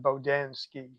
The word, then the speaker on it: Bodansky: Oh, they may sound more like how you pronounced it, but I pronounce it Bodansky.